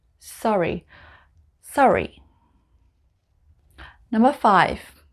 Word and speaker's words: Surrey: walking it's working working number four sorry sorry in the south of england it's called surrey sorry sorry number five it's